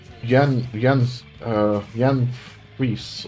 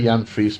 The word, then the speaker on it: Jan Fries: But yeah, Jan Fries or Jan Fries. I say Jan Fries because I'm South African and that's how you would pronounce it in South Africa.